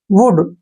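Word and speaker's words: would: शुड पढ़ेंगे शुड जैसे वुड डब्लू ओ यू एल डी वुड ऐसे वुड वुड में भी क्या है डी से पहले एल आया है तो एल को हमने छोड़ना है वुड एल का उच्चारण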